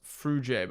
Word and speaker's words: Fruge: My last name is pronounced Fruge, by the way. Ah, Fruge. It's French.